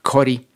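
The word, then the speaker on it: Ccori: Pero por otro lado hay un gran proyecto en Perú que se llama Cori, creo que se pronuncia Jori porque está en alguna lengua nativa.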